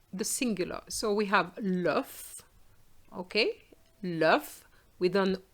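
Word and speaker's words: l'œuf: let's look at the singular so we have love okay love with an o next to the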